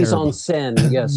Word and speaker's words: mise en scène: performance and, as you put it, the film's mise en scène. Am I pronouncing that right? My French is terrible. Mise en scène, yes.